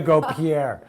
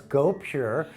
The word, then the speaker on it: gopure: How do you say that? gopure? gopure toner. That's pretty easy. I Like, well, I was going to go Pierre. Well, it's gopure.